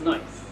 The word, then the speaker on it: Snoice: people come in asking is it sluice or snow ice and it's noise it's inspired by this